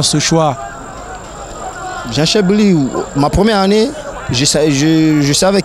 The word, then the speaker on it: Gençler Birliği: Alors, prononcez-moi le nom du club où vous jouez exactement. C'est Gençler Birliği. Gençler Birliği, alors vous arrivez là, c'est l'ancien club de